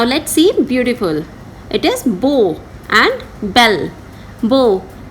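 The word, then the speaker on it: beaux: an X, not S, by adding an X after it. For example, beau, it will become beau in plural form.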